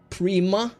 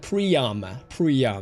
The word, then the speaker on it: Priam: I always I like saying Prima, so I often mix up the name. But Priam, catch me on that if I say it wrong.